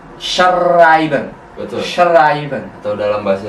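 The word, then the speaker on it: schreiben: i b e n di situ ada S CH H juga ada ei i jadi S es a i e i jadi ai a jadi shben betul shben atau dalam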